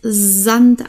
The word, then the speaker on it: Sand: wir hier das S wenn da ein S hier steht und danach ein Vokal kommt wird das als Sand ausgesprochen okay Sand süß und Sache also nicht wie Sand oder süß S Sand und süß Sache okay ein starkes